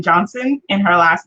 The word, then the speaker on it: Johnson: the product lisa says people always forget the t in johnson in her last name